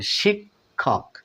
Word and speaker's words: শিক্ষক: মত দিয়ে থাকে দেখুন যুক্ত খ যদি মাঝখানে থাকে তাহলে প্রথমে ক এরপরে খ এরপরে ক অর্থাৎ ক খ এর মত সাউন্ড দিয়ে থাকে দেখুন শিক্ষক শিখ শিক্ষক অর্থাৎ পরের ক টা খ এর মত সাউন্ড দিয়ে থাকে কারণ সেটা অনেক বেশি বাতাস লাগে তাই এটা মহাপ্রাণের মত হয়ে যায় শিক্ষক শিক্ষক এরপরে দেখুন